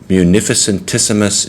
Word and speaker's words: munificentissimus: i do it because it's seven syllables so you break it down into four and three you gotta love latin latin is the coolest language munificent issamus four syllables three syllables that's how you can pronounce it munificentissimus deus um so